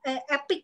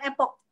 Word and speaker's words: Epic: Karena Epic ya. Kalau kita bacanya Epic ya, bukan Epoch. Epic. Epic Marine Matte. Jadi teman-teman bacanya harus benar. Epic, bukan Epoch ya.